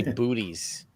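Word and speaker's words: Boötes: In the northern hemisphere, and Dave, I've always heard it called buutes. You want to look for buutes? It's got the umlaut in there, so it's a little ambiguous for the pronunciation. I just say booties.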